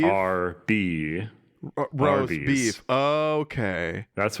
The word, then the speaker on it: Arby's: I was always told Arby's phonetic pronunciation of roast beefs, Arby's. No, wait. What? That's not true. What the fuck did you just say to me? Arby's, you know when you say the letter beef? R-B.